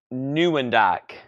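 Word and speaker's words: Nieuwendyk: nimon Wendi how do you say his name Neu wind this guy Hockey Hall of Fame Joe neend thank you Greg Joe new andak is a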